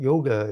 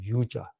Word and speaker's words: yoga: The word yoga is a Western pronunciation. The original pronunciation in North India is called yuja, and yuja basically is